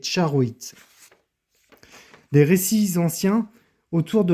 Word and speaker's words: charoïte: À noter que la prononciation correcte de ce nom est charoit.